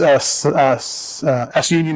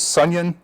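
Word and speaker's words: SUNION: I used to pronounce s union as sunyon or sun ion, but I thought sunyon was funnier.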